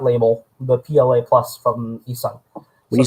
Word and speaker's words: eSun: eSun, like ESUN, eSun PLA Plus. And that's typically what also comes with what Micro Center with their inland filament. They also white label the PLA Plus from eSun.